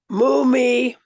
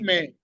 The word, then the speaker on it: mume: Mumi, waumi. Mume. Husband. There's no E. Either there's Oh, no E. It's okay. mume. Don't say it like mumi. It's mume.